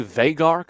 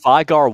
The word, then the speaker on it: Veigar: the by the way i say vegard that's how we say it in america and you occur 100 you said veigar once and i changed my pronunciation instantly so there you go